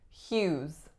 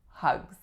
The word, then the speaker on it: Hughes: sound as in yes the vowel is ooh and the final s makes a Z sound Hughes Hughes for this one I often hear hugs next up we have